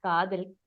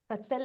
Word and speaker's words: Kathal: And not to confuse this with Kadal. I think Kathal. Kathal is the right The pronunciation.